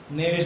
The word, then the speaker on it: knavish: नेविश, के साइलेंट होता है, नेविश बोला जाएगा।